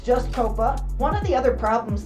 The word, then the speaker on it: Qoppa: cool and unique name a lot of people mispronounce it they call her Copa there is no you it's just Copa one of the other problems that she had